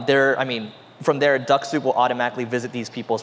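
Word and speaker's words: Dux-Soup: use a tool called duck soup so that's spelled D as a dog you X and sou P duck soup it's a weird name I know I think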